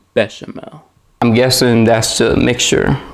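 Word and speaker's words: béchamel: with half of the but chamo a proper chef would know that the way to pronounce this word is bechamel i'm guessing that's the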